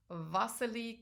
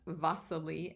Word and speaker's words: Wassily: You notice that I say his name Wassily and not Wassily, and that's because he's a Russian artist, and that's how they pronounce their W's like we would pronounce our V's.